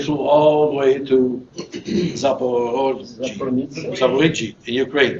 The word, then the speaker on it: Zaporizhzhia: airport, and they flew all the way to Zaporizhzhia in Ukraine. How do you say that? Zaporizhzhia.